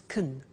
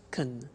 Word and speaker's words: can: pronunciation of can becomes Kun shekin she can speak Spanish he can play tennis we can speak German all right so can becomes Kun when we speak now the negative form